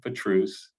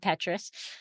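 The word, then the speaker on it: Pétrus: wines in the world for truce um and that's how you say it people not Petrus yeah and um that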